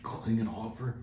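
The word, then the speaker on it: Klinghoffer: My partner here definitely knew something about it, but I believe you guys know him as Josh Klingenhofer. That's the right pronunciation.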